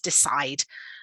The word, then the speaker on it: decide: frequency word decide so verb two syllables stress on a second decide and then if we're